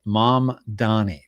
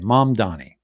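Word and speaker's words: Mamdani: Mom Donnie. That's what I thought. I was correct in the first uh the first one I had. Yeah. Okay. Mom Donnie. I was incorrect the first time.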